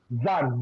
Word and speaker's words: Zan: Zan, Z-A-N.